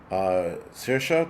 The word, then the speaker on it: Saoirse: Saoirse, thank you for the 5x5 if you're on here.